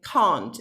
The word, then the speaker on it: can't: takes some practice okay can is generally a more open vowel can and can't is longer because it's a bit longer and it's more like um can't it's not so open okay can can't you